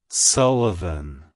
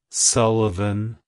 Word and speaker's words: Sullivan: significance it's pronounced as Sullivan Sullivan Sullivan to pronounce it correctly emphasize the first syllable Su and lightly pronounce the uh in the second syllable followed by a clear